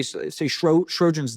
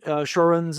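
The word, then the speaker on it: Sjögren: I'll just pick a random disease, but say Sjogren's disease. This weird autoimmune disease. It's Swedish. I always pronounce it wrong. It's Sjogren. So it's like Sjogren's or Sjogren's.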